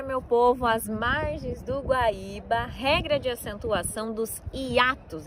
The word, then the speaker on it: Guaíba: E o I é a sílaba tônica ali nesse caso.